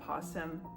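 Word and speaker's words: opossum: I know that possum, like the way it's spelled, there's an O in the beginning and it's silent, right?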